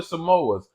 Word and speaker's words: Samoas: me she said say she said no to samoas oh so I said the name right you